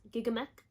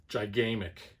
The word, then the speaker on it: Gigamic: circle games funko games gigamec grand gamers guild cosmos looney labs luma imports theop robinsburger tasty menstrual games underdog games upper deck queen games and z-man games actually i think it's pronounced gigamic you know kind of like